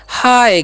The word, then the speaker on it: Hi: तो ही जो है इसे नहीं पढ़ना है, ही पढ़ने का गलती नहीं करना है। एच का उच्चारण हम करेंगे हा और आई का उच्चारण यहाँ पर करना है आय, तो क्या हो जाएगा हाय। क्या पढ़ेंगे इसे हम हाय पढ़ेंगे, ध्यान रखना इसे क्या पढ़ना है हाय। ठीक है, आई का उच्चारण यहाँ पर आय करना है, तो इसे ही नहीं